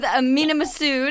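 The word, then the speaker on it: Mena Massoud: charge my laptop okay so being roommates with minam massud is that how you say it yes perfect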